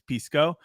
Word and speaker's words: Pisco: no it's okay because people also call me like piss Corporation piss company so it's okay I don't mind it but the actual pronunciation is Pisco but you can say